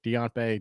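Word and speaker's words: Diontae: you know i love do you say it right now that you're on the show chris it's deant bay because he's out my bae so you gotta get that now that you're going forward it's deontay johnson uh so you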